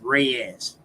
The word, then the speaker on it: Reyes: Mexico City actually and his last name is r e yees and it's pronounced Rayes yeah but the one